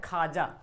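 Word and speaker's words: خواجہ: हवस अब बोलते हैं देखिए ख्वाजा लिखा हुआ पढ़ते क्या है खाजा लिखा हुआ ख्वाजा लेकिन वो को साइलेंट कर देते ख्वाजा बोलते हैं है ना दस्तरख्वान लिखा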